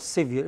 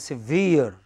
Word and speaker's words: severe: se ve ar e how do you pronounce it it is not severe it is severe s I NC e